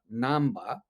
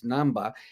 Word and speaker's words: Namba: Well, the pronunciation is Namba in Japanese, Namba, and it means literal translation is difficult place or tough spot.